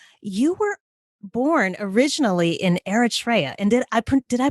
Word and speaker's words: Eritrea: listening right now you were born originally in eritrea and did did i pronounce your country correctly you did okay perfect